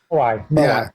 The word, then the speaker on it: Moai: How do you pronounce it? Moai? Moai.